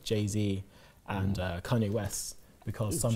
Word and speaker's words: Jay-Z: pronunciation right didn't I is it JC no it's JayZ right so I found